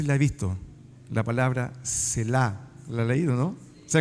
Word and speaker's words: Selah: no sé si la ha visto, la palabra Selah.